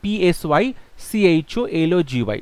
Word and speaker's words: psychology: সাইকোলজিতে একটা পি থাকে সামনে, সাইলেন্ট, পিটা উচ্চারণ হয় না, সো সাইকোলজিতে হবে PSYCHOLOGY।